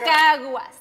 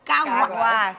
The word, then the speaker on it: Caguas: Caguas. Caguas.